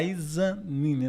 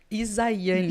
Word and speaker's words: Izaianni: A gente tem o prazer de ter aqui, né, nossa psicóloga, né, a Izanine, né? Isso mesmo. Isaiane. Isaiane, isso. É um pouquinho difícil a pronúncia, mas... Não, porque é Isaías e Isaiane.